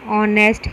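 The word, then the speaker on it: honest: rupee note इसी प्रकार hotel ऑनेस्ट hair जैसे शब्दों में एच साइलेंट है इसलिए कंसोनेंट से आरंभ होने पर भी इसके पहले एन ही लगाया जाता है फॉर एग्जांपल वह तक्त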